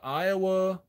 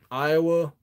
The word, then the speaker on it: Aiwa: And if you the best cassette deck, it's like an Iowa Excella, I think it's called. Yeah, AIWA, and then it's spelled EXCELLA.